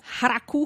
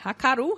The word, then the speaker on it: Hakaru: Ela foi caracterizada a primeira vez que ela foi descrita foi em 1912 por Haraku Hashimoto. Haraku não, Hakaru Hashimoto.